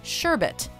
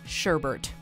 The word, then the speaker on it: sherbet: the frozen dessert menu many North Americans have been mispronouncing the food as sherbert this often fruit flavored